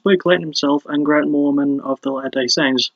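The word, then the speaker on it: Mohrman: Klayton himself and Grant Morman of the Latter Day Saints. Easy joke to make since his name sounds like Mormon, but it's spelled M-O-H-R-M-A-N.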